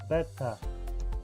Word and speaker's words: better: In American English, when you have a T, many times this T is not pronounced like a T.